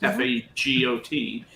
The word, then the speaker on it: fagot: Fagot is the you just in English French word. You pronounce the T, and a hard G.